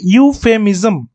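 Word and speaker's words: euphemism: কি আছে ইউফেমিজম ইউফেমিজম ইউ উচ্চারণটা কি ইউ দিয়ে হচ্ছে ইউ দিয়ে উচ্চারণ হলে কি হবে এ এই উদাহরণগুলো ব্যতিক্রম উদাহরণটা এই কারণে রাখার কারণটাই হচ্ছে আপনাদের সঙ্গে আলোচনা করে নেওয়া যাতে করে আপাদৃষ্টিতে এটা শুরু হচ্ছে কিন্তু ভাওয়েল দিয়ে হওয়ার কথা ছিল এন কিন্তু এখানে ব্যতিক্রমী নিয়মটা কিন্তু কাজে লাগছে বসেছে এ আবার আমরা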